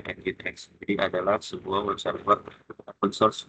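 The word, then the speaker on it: nginx: Nah ini web server engine X ya. Dibacanya engine X.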